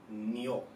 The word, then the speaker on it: Nioh: be this game n not sure if it's called Neo or N I believe in the Japanese correct pronunciation would be Neo but for the sake of coolness I want to call it na because it just sounds cooler so this is going